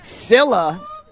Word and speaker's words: Scylla: I'm actually being told I'm pronouncing the Milwaukee side wrong. Scylla seems to be the correct pronunciation.